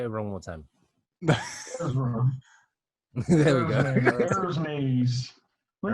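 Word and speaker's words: Erza: Ezra.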